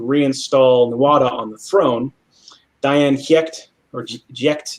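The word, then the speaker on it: Dian Cécht: Diane Giecht, or Giecht, it's like a G, but it's spelled with a C.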